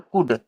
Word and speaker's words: could: यहाँ पर एल क्या होता है भाई, साइलेंट रहता है, तो यहाँ पर इसको कुड बोल देंगे।